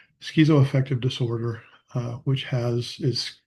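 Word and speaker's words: schizoaffective: A lot of people think it's schizo but it's actually correct cor correctly pronounced it skezo schizoeffective disorder uh which has is schizophrenia with bipolar.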